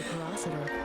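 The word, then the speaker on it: Pyrocitor: To use the porositor, hold down the circle button. Oh, that's how you pronounce it. Porositor. Alright. And there's pyro in the name. I figured that would be more enunciated like that, but alright.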